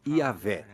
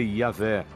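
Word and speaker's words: Yahweh: Assim, seu título era Deus, e seu nome eram essas 4 letras, YHWH, que provavelmente eram pronunciadas Yahvé.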